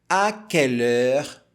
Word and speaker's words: à quelle heure: Por exemplo, à quelle heure, a tônica está aqui ó, no último acento, à quelle heure tu te réveilles.